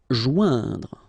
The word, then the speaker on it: joindre: Joindre. Okay, remember O-I-N together. Ouin. Okay, joindre.